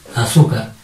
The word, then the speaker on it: azúcar: Sería azúcar. ¿Dónde lleva tilde azúcar? En su. ¿Cómo sería? Azúcar. ¿Por qué? Porque lleva tilde en la penúltima sílaba.